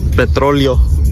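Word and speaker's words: petróleo: Petroleo. That's how you say it in Spanish, Jimmy, for when it comes in handy in the future.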